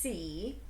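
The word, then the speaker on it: saoi: an irish word it's spelled s-a-o-i but it's pronounced c and it's an ever-knowing all-seeing wise being who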